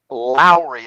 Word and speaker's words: Lowry: and how do you say your last name lowry l-o-w-r-y and hello to you christina hi lowry welcome to savvy broadcasting unleash your story we're